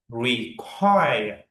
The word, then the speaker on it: require: You need to read require. Require. Okay. Require. This mean you need to go down a little bit and then go up after that. Require. Okay. It mean the stress is on second syllable.